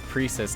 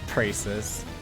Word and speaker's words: Prius: Can't even pronounce her name wrong. It's Prius, not Prices.